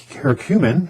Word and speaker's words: curcumin: John's wort, curcumin, that's how you pronounce it, which is the active ingredient in turmeric, and rhodiola.